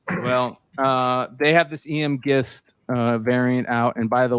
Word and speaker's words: Gist: So the last name is pronounced Gist, not Gist or Geist or Geist or any of that stuff.